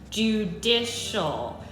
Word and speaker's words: judicial: with all of you it's judicial this is three syllables judicial branch uh-huh so